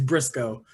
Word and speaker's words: Briscoe: Is it Briscoe? Do I have that right? Yes, it is Briscoe. Like County Jr.